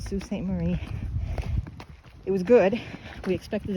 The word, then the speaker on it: Sault Ste. Marie: Marie, which I was pronouncing completely wrong before. But that's what it's called, Sault Ste. Marie.